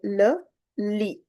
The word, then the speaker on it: le lit: The bed is the masculine, and this is called le lit. Le lit. Because we don't pronounce T at the end. It's a consonant. So we have to stop our pronunciation till I. It becomes le lit.